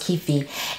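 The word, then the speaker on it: kyphi: And then there's, I don't even know how to pronounce it, but I think it's pronounced kefi.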